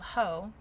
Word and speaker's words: Heaux: It's called Ho, but it's spelled Heaux. So like French.